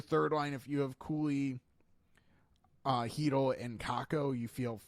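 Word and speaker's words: Cuylle: I think a lot of people understand it does not look phonetically how it's actually said. So Will Cooley, I'm a fan.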